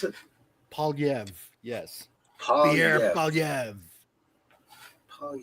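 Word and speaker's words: Poilievre: And what happened to Pierre Polivier? Or Polyev. Polivier? Or Pierre Polyev. is that how you pronounce it? Polyev.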